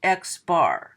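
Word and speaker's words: x-bar: over it called a bar and this is pronounced xbar so I would read read this the sample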